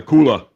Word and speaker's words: cooler: He gets his drinks out of the cooler. The cooler. Ice chest. There's an R at the end of that word.